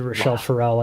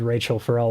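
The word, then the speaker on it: Rachelle Ferrell: i made lily videos about layla hathaway i said lala hathaway when i did rochelle pharrell i did rachel for all like i just i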